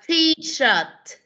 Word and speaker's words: T-shirt: Không phải là teacher, mà là đọc theo cô. Shirt. Shirt. Shirt. Shirt. Rồi, đọc lại. T-shirt. T-shirt. T-shirt. Rồi, cái T-shirt. Cái chữ shirt con có thấy cái đuôi T ở cuối cùng không?